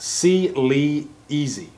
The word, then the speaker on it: Cleazy: It's pronounced C-Lee-Easy. C-Lee-Easy, so I got it right.